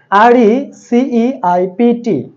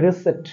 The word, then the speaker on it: receipt: তারপরে আছে RECEIPT আমরা বলে থাকি receipt বাট এর সঠিক প্রোনান্সিয়েশন হচ্ছে receipt শেষে ত হবে উচ্চারণ receipt এখানে কোনো এই p এর উচ্চারণটা থাকবে না তারপরে আছে দেখেন GREEN